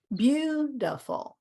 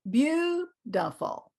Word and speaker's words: beautiful: we have this word beautiful e a u says you you you you this I which is the one that gives everybody trouble is schwa because it's three syllables beautiful beautiful and this eye turns